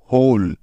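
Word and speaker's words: hole: সুতরাং এইচ ও এল মিলে হয়ে গেল হোল। এখন বাকি রইল ই। যেহেতু এই ইটা শব্দের শেষে আছে, তাই ই এর কোনো উচ্চারণই হবে না, অর্থাৎ এই ইটা সাইলেন্ট হয়ে যাবে।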